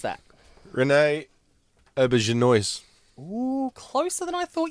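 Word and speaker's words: René Auberjonois: Anyone want to attempt to pronounce that? Renee Auberginois.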